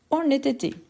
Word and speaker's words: honnêteté: Honnêteté. Honnêteté. Honnêteté. Honnêteté. H muet ou aspiré. Super. Super. Et oui, c'est un H muet.